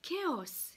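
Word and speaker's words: chaos: chalet vous avez aussi kéos qui se prononce donc différemment vous voyez qu'il ya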